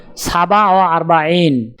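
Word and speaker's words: سبعة وأربعون: উচ্চারণ হবে সাবা ওয়া আরবাইন।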